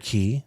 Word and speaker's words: Cay: Parrot Key. Sorry, I say that wrong. It's spelled Cay. It is, but it's Key, which doesn't exist anymore.